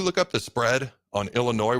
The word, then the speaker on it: Illinois: up the spread on Illinois where the S is silent versus Penn State this